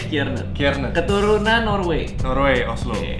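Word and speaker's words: Kjaernett: Rendy Kiernet. Hai. Benar enggak? Benar. Tapi tulisannya Kejaer Net. Mujair. Kejair. Kejaer. Kejaer Net. Net. Oh, dibacanya Kiernet.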